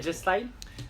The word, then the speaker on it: AJ Styles: dis qu'on dit dj mais c'est pâques et jay style et jay style parce qu'il reste versus nakamura